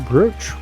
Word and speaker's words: brooch: Stone brooch was coughed up.